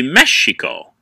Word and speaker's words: Mexico: Mexico but the Eis the x is actually a sh sound so it literally should be Mexico because of the Aztec